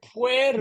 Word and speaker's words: puer: what does this word PU mean a boy yeah it means literally boy all right notice I said pu right it's almost like that UE is squished together so pu so um EST all